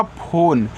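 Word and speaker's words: phone: देखो लिखा है आपका फोन तो पीएच से आपका फ ओ से ओ की मात्रा फो और एन से केवल आप ना करोगे यहां इ आपका क्या रहेगा साइलेंट रहेगा क्योंकि ए आपका क्या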